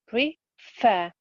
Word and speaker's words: prefer: Here we put the stress on the second syllable, prefer, fair.